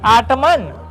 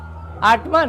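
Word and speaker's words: autumn: आटमन आटमन नहीं आटम कालमन नहीं यहां पर ये साइलेंट है। यहां पर ये साइलेंट है। यहां पर ये साइलेंट है। इसे पढ़ेंगे आटम।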